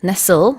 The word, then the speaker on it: nestle: 발음도요. nestle이 아니고 nestle 발음한다는 것도 주의하시면 되겠고요.